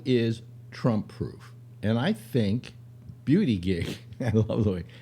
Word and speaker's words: Buttigieg: And I think Beauty Gig. I love the way. How is that name pronounced? I think it's Buttigieg. I have no idea.